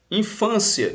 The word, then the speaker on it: infância: vídeo aula é exatamente é uma paroxítona ou seja a penúltima sílaba mais forte e ela termina em ditongo crescente tá então observe quando eu digo infância eu tenho que encontrar